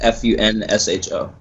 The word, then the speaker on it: Funsho: It's Funsho. Funsho, okay. Yeah, I wasn't sure how to pronounce that, man.